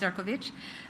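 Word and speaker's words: Šefčovič: Yes, spelled Sephovich pronounced Ciroich.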